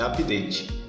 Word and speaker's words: update: o Windows update né eu pronuncio O Vidente mas isso que o jeito certo e pronunciar é update eu precisei ficar busca